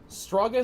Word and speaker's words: Straggas: Straggas is a Latin word for slaughter. It's pronounced with a hard G.